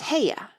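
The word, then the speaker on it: Haigha: does them when he's happy his name is heya he pronounced it so as to rhyme with mayer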